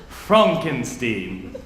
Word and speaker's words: Frankenstein: Frankenstein that's frankenstein' my name it's pronounced Frumkin Steve yes yes the whole